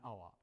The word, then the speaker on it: hour: Some consonants have a vowel sound, like in here, an hour, because we don't pronounce the H, an hour.